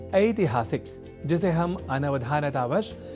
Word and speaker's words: ऐतिहासिक: तो इसी श्रृंखला में आज इस अक्षर से जुड़े शब्दों के शुद्ध उच्चारण के उद्देश्य के साथ कुछ वाक्यों का कर लेते हैं अभ्यास। एक शब्द है ऐतिहासिक, जिसे हम अनवधानतावश या प्रादेशिकता के कारण ऐतिहासिक लिख और बोल जाया करते हैं।